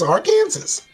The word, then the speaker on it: Arkansas: It's spelled like Arkansas. It's Arkansas.